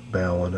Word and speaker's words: balun: I guess it's balun because it's short for balanced, unbalanced, so balun I think is a pretty correct pronunciation.